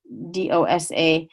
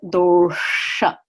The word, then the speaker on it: dosha: dosha again this is if I were to take that dot away it would be do sa and you would think it's that creep that you can order at a South Indian restaurant and dosa but it is door shut with the retroflex ask door shut these are the humors